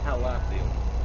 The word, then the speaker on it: Halathiel: So, Halethiel? How you pronounce that there, Chris? Wait, sorry. Use the other headset. It's Halathiel. Halathiel.